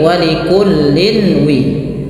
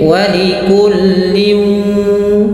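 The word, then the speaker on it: وَلِكُلٍّ: Maka kita bacanya bukan lagi walikullin wi, tapi walikullin, langsung ke waw dan masukkan ke rongga hidung kita.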